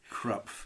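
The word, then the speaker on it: Krapf: had a German lesson in my life it's pronounced crup yes I'm glad that my German friends were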